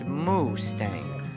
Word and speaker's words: Mustang: is generally referred to as the upper Mustang pronounced Mustang though no longer The Forbidden or lost kingdom the area has been opened to roughly 2 000 visitors a year since 1992.